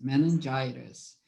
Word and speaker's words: meningitis: Meningitis. Remember, okay, most of the diseases, illnesses, sickness that has, oops, sorry, that has the itis, I-T-I-S at the end, we are going to pronunciate itis, okay?